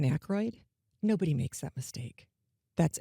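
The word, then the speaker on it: Aykroyd: It didn't have any of those kind of robotic things or mispronunciations like I saw one where the AI robot said Dan Achi instead of Dan Akroyd.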